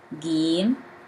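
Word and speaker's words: جيم: Gim, Gim, Gim. Gim pronounced as G in English.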